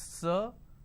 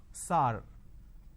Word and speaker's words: sir: Majority of the people pronounce the word sir as sar. Sar, can you please answer my question? So instead of saying sir, they say sar.